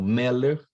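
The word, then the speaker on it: מֶלֶךְ: Eventualmente, eu vou ter palavras como meller, em que a sílaba mais forte é o me, né? Meller.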